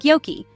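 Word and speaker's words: joki: the Finn J is pronounced like the English y in the word yes so jokey River sounds like Yoki don't worry you'll get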